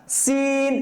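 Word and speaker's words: سين: আছে let's try শিন প্রথমটা সিন পাতলা করে কায়ের পাঞ্জের মতন আওয়াজ হবে তারপরেরটা শিন মোটা করে শিন শিন তাহলে সিনটা হচ্ছে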